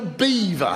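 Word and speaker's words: Belvoir: In what language can B-E-L-V-O-I-R spell beaver?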